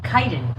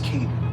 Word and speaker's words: Kaiden: His name is Kaiden. Kaiden, which was also a source of confusion when a lot of people were pronouncing it as Kaden.